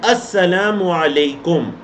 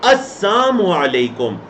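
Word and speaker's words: السلام عليكم: के पास आते तो सही अल्फाज है अस्सलाम वालेकुम तुम पर सलामती हो यहूद आकर कहा करते अस्म अलेकुम बीच से लाम को साइलेंट कर देते लाम को हज लाम को पढ़ते ही ना तो क्या बन जाते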